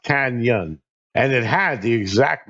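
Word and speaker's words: cañon: But that word, just incidentally, is pronounced canyon.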